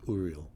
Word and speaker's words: Uriel: I've always called him Uriel. So. Yeah, But Tommy just and I go back and forth. Yeah, with but just as of late, pronunciations. just as of late, the Hebrew pronunciation is Uriel.